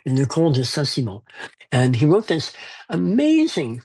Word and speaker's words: Le Comte de Saint-Simon: And the Count of Saint Simon, and that's how it reads, but it's pronounced Le Comte de Saint-Simon.